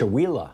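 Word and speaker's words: Chewelah: How you pronounce it? Chihuahua. Okay, thank you.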